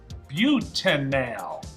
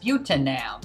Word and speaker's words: butanal: Now careful how you pronounce that. Butanal. Butanal, good. And we don't wanna mix that up with butanol, which would be an alcohol, so really stress that Al at the end.